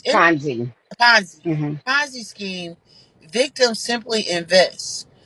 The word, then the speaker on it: Ponzi: right so listen so somebody comment said that poiny is that how you say it poiny scheme so it says pzi Ponzi Ponzi scheme victims simply invest while sches involve